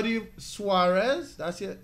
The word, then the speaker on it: Suarez: How do you Suarez? That's it. How you pronounce it?